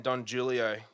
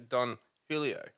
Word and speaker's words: Don Julio: yeah totally forgot that the J is silent or it's more like a h yeah in Aussie language so it's actually Don Julio Julio Julio yep uh